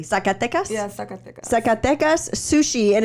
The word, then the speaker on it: Zacatecas: But yeah, so Zacatecas. I'm not saying it correctly. Zacatecas. Yeah, Zacatecas.